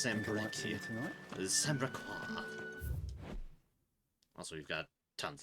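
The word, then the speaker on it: Sanbreque: Been pronounced Sembrequois.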